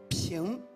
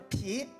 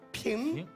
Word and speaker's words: 平: 鼻子说，用鼻子发音，他平平。